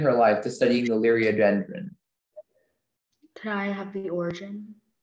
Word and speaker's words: Liriodendron: Liriodendron is the only pronunciation.